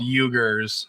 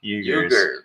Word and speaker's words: Uyghurs: they're called Uyghurs. Uyghurs. It's spelled U-I.